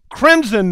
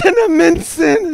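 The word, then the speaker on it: Cinnaminson: Walla Washington Toledo Ohio Crimson news no that's not crimson that's cinnamonson in New Jersey it took me months to pronounce that all right so Tomahawk Wisconsin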